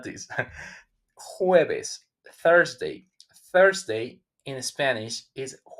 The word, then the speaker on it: jueves: Jueves, Thursday. Thursday in Spanish is jueves with the J. But remember again, it's smooth.